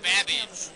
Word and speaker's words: Babbage: Your buzzer is the letter B as in Babbage, which is something that rhymes with cabbage.